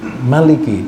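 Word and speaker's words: مالك: Tapi di dalam ee surah Al-Fatihah Maliki ini pada umumnya kita membacanya ma panjang, tapi ada satu ee qiraah yang dibacanya pendek. Tapi secara umum seluruh dunia itu kecenderungannya membaca Maliki yaumiddin.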